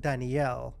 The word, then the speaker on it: Danieal: Her name is spelled similar to the name Daniel, but it is pronounced Danielle.